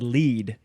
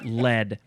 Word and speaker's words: lead: I almost said lead, but it's pronounced lead.